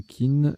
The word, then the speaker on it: Qin: Pour Qin, c'est pareil, chin ou kin, sitar chinoise à 7 cordes ou adjectif d'une dynastie chinoise du 3e siècle avant Jésus-Christ.